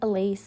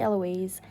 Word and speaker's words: Eloise: I said Ely, but it's actually Eloise.